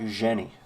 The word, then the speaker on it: Eugenie: Eugenie. Soft G.